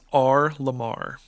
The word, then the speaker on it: R.LUM.R: those are all capital uh correct uh it's r lamar okay so his name is i should i